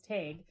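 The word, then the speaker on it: Tadhg: fleming tag fleming so one of the names is tag i know how to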